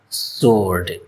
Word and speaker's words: sword: Some people pronounce it as sword but its correct pronunciation is sword.